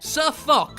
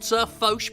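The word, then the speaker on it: SirFoch: SirFuck, whose name is pronounced SirFosh, but I started calling him Fuck and now I can't stop, is a predominantly fondly regarded member of the World of Tanks community.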